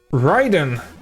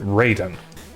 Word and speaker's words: Raiden: Uh, Ryden is how you would pronounce his name if you're referring to the actual Japanese thunder god, but for some reason they pronounce it Raiden.